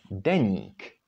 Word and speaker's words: deník: However, this word would be pronounced with soft ny, deník, because there is this měkké I, and it means diary.